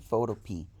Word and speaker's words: Photopea: introduction to the program photo p it is spelled photo p like the vegetable p e a that's it and if